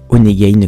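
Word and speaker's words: Honeygain: se retrouve de l'autre côté donc ça c'est onegade comme tu vois juste ici ça s'écrit h o n e y G a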